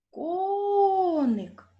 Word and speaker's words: коник: поставте наголос слові коник покличемо коник так на звук о Отже який склад наголошений в цьому слові теж перший склад ко назвіть який склад